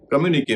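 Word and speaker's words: communiqué: कम्युनिके में क्यू का उच्चारण क हो रहा है और यहाँ पे ई का उच्चारण ए हो रहा है।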